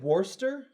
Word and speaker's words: Worcester: English town correct yeah Worcester it spelled wor like first Dorchester sort of look you said Wurster Worcester Worcester why not